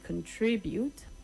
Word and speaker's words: contribute: You say contribute. The stress is on the second syllable and not the last syllable. Contribute and not contribute.